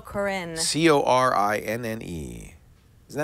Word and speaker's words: Corinne: C-O-R-I-N-N-E. Isn't that how you pronounce it, Corinne?